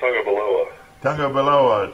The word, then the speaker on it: Tagovailoa: Is that how you pronounce it? I think it's Tagovailoa.